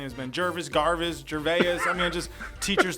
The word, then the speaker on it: Gervais: I'm saying it right? Yeah, Gervais. Yep, Gervais. You got it. All right. This is silent.